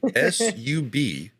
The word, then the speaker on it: subtle: you spell subtle is s-u-b-t-l-e just let you guys know it doesn't sound like it's spelled so definitely check him